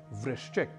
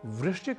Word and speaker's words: वृश्चिक: जैसे एक शब्द है वृश्चिक, जिसका अर्थ है बिच्छू, और इसी वृश्चिक शब्द को हम अक्सर कई लोगों से वृश्चिक इस रूप में सुन लेते हैं।